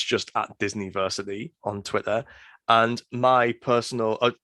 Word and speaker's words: Disniversity: Yeah, well, basically at the minute it's the Disniversity Podcast, which is spelled, and I keep having to say this on podcasts, DISNI, versity as in university, not as in Disney.